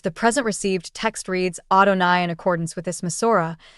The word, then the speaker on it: Adonai: From time immemorial, the Jewish canons decreed that the incommunicable name is to be pronounced Adonai as if it were written 𝘼𝙆𝙏𝙄 instead of 𝑌HWH.